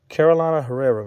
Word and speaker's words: Carolina Herrera: If you don't know who it is, man, this is Carolina Herrera. Oh, my God. Am I saying it right? Yeah, Carolina Herrera, man.